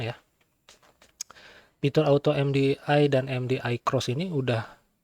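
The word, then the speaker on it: MDI-X: Kita coba searching di ini aja lah ya di auto MDI dan MDI bukan MDI ya tapi MDI cross sebenarnya kalau bacanya itu.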